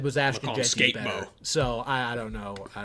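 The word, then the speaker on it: Skattebo: Dragons with $1.99 said, why do you talk crap about Cam Scataboo in that skit? The skit you're referring to... Is that how you pronounce that?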